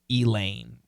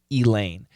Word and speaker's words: Elaine: I always give is Elaine so in Seinfeld we have the woman's name Elaine and you will hear hear all of these pronunciations you'll hear all five you'll hear Elaine you'll hear Elaine you'll